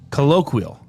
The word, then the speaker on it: colloquial: Now it says it pronounces it with a qui, not a key. Colloquial.